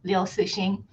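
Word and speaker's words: Liu Cixin: I'm I will be reading The Dark Forest by Singlu, or if I want to say it correctly in Chinese, Leing.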